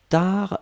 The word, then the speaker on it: tard: Upasana, attention, tar c'est T-A-R-D. Hein, donc T-A-R-D, on ne prononce pas le D.